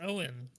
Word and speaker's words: Eoin: Eoin. Saying it was also an ancient city, a Greek Eritrean colony. Eritrea is not really. I mean, it's Owen. Greek, but it's. It's pronounced Owen.